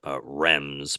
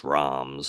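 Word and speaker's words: Reims: actually stopped in us people always call it Rems but I think it's ROMs is what they what it's actually how you pronounce it and um I remember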